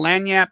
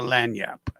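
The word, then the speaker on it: lagniappe: You do anything uh to put a little lanyap? You know what lanyap is? Anybody? If you ever see it, it's uh it's spelled L A G.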